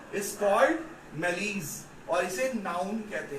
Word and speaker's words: malaise: MALAISE लिख लो, MALAISE, मैलीज कहते हैं, इज नोन एज मैलीज। क्या बोलते हैं? मैलीज, राइट?